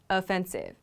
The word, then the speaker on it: offensive: he's on the offensive we can use that a sound at the beginning of this word word however we cannot